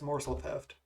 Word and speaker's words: Morsel Theft: is it more yeah it's more so theft is how you pronounce it morsel yeah they're going oh